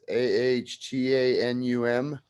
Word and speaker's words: Ahtanum: I don't know if it's pronounced Ahtanum. It's Ahtanum.